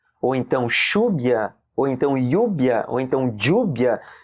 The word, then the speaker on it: lluvia: E aí o LL pode ter o som do LH do português também. Você pode falar calhe, como chuva. Chuva em espanhol se escreve com 2 L's, lluvia, V-I-A. Então escreve lluvia, né? Lembrando que o V ele tem um som praticamente igual ao B, né?